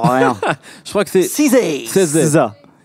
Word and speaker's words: SZA: Je crois que c'est SZA. SZA. Apparemment, c'est comme Reza, on dit SZA. On est dans le public. SZA. SZA.